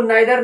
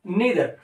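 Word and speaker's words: neither: नीदर, इसको नाइदर नीदर दोनों pronunciation common type के चल जाते हैं बट आप यूज करें इसके लिए नीदर.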